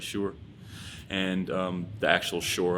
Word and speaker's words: Shore: me is called sure sure spelled s-s-h-o-r-e um but pronounced like sure um i named it